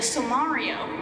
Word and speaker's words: Sommario: go I mispronounced the title is actually sommario which is of course is what happens if you mash Sonic and Mario together so you get the